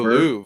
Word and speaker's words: Louvre: How do you pronounce the word Louvre? The Louvre, yeah. The Louvre, yeah.